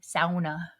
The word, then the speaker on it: sauna: You have to say it like the Swedes do. Sauna. It's a sauna.